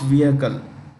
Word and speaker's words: vehicle: The ISRO successfully launched the PSLV, Polar Satellite Launch Vehicle. The H in vehicle is silent.